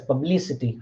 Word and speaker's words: publicity: But when we when we affix ity, then we have three syllables: publicity. Fine. Sorry, four syllables: publicity. So which one get the second syllable? Li get the stress, publicity.